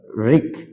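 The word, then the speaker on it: wreck: প্রদর্শিত শব্দগুলোতে W double you later will be silent such রিক মানে ধ্বংস রে মানে রাগ রাইট মানে লেখা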